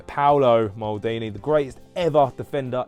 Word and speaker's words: Paolo: Paulo, or as I always say it wrong, sorry, Paolo Maldini, the greatest ever defender in the world ever.